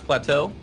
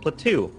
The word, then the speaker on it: Plateau: is that is pronounced Plateau like like how you pronounce plateau and uh and uh